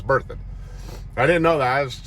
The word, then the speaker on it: Berthoud: Love's truck stop on I-25, and it is pronounced Berthoud. I asked the woman inside there, I was like, how do you pronounce the name of this town? And she said Berthoud. I'm like, okay, so it's Berthoud.